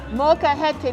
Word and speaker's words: molcajete: Now you're gonna have to help me pronounce this. Molcajete. Molcajete.